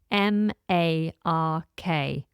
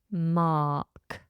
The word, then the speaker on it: mark: it's I TS Mark m a r k Mark notice I don't pronounce the r we just have a long R vowel Mark so to leave